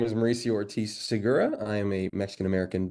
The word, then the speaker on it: Ortiz-Segura: Now, the hyphen is just there to ensure that you pronounce both individual last names correctly. So it's not Ortiz Segura, it's Ortiz Segura, right? Either way is fine. However you want to say is good.